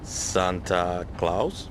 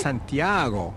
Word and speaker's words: Santiago: Camino de Santa Claus? Ha! No, It is pronounced Santiago.